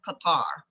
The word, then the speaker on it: Qatar: So, let me start by telling you a little bit about the state of Qatar. In Arabic, it's pronounced Qatar or Qur.